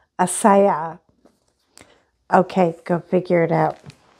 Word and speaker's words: Ajisai: And the way that her name is pronounced is Asaya.